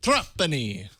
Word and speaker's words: Trapani: Trapani.